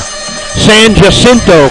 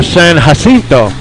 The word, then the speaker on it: San Jacinto: Prime examples locally: Austin's Man Shack for Manchaca, San Jacinto for San Jacinto, and Guadalupe for Guadalupe, among many others.